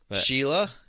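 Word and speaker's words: Síle: o b a n Sheila is s i l e did you know that I did not know I've seen uh s e like spelled that way before and know Sheila yeah there's a there's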